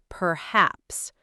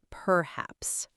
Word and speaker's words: perhaps: Perhaps, not perhaps. The stress is on the second part.